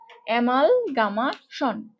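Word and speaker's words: amalgamation: তারপরে হচ্ছে গ্যামে বা gamma, GAMA, gamma, অ্যামাল plus gamma plus টিআইমেনশন, অ্যামাল gamma Shaun, অ্যামাল গ্যামে Shaun, গ্যামে, বাট এখানে বানানটার মধ্যে কিন্তু গামা, সো উচ্চারণ করতে পারে অ্যামালগামেশন, অ্যামালগামেশন, কোনো সমস্যা নেই। তুমি ইংরেজি বানান যত উইয়ার্ডলি করবে তত শুনতে ভালো লাগবে। অ্যামালগামেশন, অ্যামালগামেশন, দেখো শুনতে ভালো লাগতেছে। তাহলে অ্যামালগামেশন এভাবে উচ্চারণ করবা, মানে কি একত্রীকরণ।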